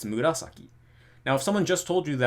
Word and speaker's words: murasaki: And it just happens to only have the accent on the second syllable, right? It's murasaki.